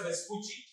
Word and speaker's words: Vespucci: కొంచెం కాలానికి ఆయన తర్వాత another Italian sailor అమెరిగో Vespucci, it has to be pronounced as Vespucci, Italian language lo. Amerigo Vespucci ane manishi, he had